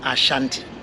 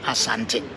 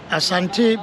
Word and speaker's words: Asante: The word Asante, it is often pronounced Ashanti, but the people themselves call themselves Asante. Asante because it is a Twi word.